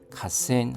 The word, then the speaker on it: 河川: 갓센 하면 하천입니다. 발음에 주의해 주십시오. 하가 카로 발음이 납니다.